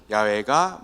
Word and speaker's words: 야훼: 정말 정확하게 발음하면 야훼가 맞아요.